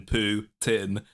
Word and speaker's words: Putin: I love the way Americans say Putin, by the way. I say Putin, as in Putin, whereas you guys go Putin.